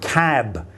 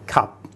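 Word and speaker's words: ขับ: And when they tell you the Thai word for drive, they will say cab and not cup.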